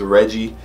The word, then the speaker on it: Rejjie: to pronounce his name I think it's Reggie I mean you know I'm saying with Jays instead of Gees Reggie snow drums you